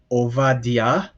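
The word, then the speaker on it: עובדיה: ester and then the below that you have ovadia you would better know that in the bible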